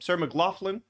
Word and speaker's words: Sarah McLachlan: Sarah McLachlan.